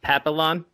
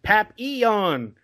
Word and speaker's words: Papillon: So I did a review for Papillon, which I pronounced Papillon. And to this day, yesterday, it's like, dude, it's Papillon.